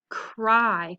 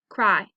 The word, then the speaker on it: cry: Cry. How did I know that Y was going to be an I sound? It's just one syllable. Cry.